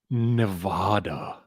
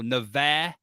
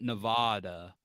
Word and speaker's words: Nevada: the show from Reno Nevada uh pronounced it's pronounced Nevada no Nevada oh not Nevada it's a big a I don't know I